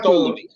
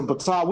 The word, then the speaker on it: Ptolemy: They say, oh, there's the Ptolemy. We want to be the gods too, so we're gonna call ourselves. You want to say Ptolemy, but I'm saying it's still. Why is the P not pronounced?